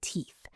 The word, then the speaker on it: teeth: Pay attention to that th sound at the end of teeth. Make sure your tongue is between your teeth.